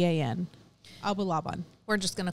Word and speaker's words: Abulaban: n n k i d I'll try to pronounce his his name correctly but it's his name ol and then AB Abu laaban abulaban okay a b u l a b a an abulaban we're just going to call him Olie for